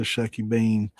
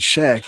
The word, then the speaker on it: shucky bean: I'm pretty sure it was a Shucky Bean. She never said Shack. It was Shuck. Shuck.